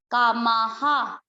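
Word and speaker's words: कामाः: कामा, और माँ के बाद है विसर्ग, ये चीज, विसर्ग का उच्चारण होगा इसकी मात्रा पे। माँ किसकी मात्रा है, आ की, तो विसर्ग को पढ़ेंगे हा, कोई विसर्ग ना छोड़े, कामाहा, कामाहा।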